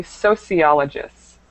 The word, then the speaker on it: sociologists: The first one was this word, it should be sociologists.